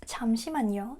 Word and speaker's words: 잠시만요: So, it's 잠시만요. Not jam or jam. 잠시만요. Make sure. Remember, Korean sounds are very subtle. There's no stress. Okay? 잠시만요. It's a lot flatter than you think.